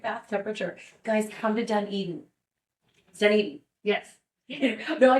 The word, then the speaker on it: Dunedin: I did right question I feel like I always put the the the wrong emphasis on the wrong Sal anytime that I tell people they read where I'm from they think it's dunad which is a oh my